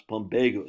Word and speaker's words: Plumbago: I got to remind myself how to pronounce Plumbago. Sebago Lake, Plumbago.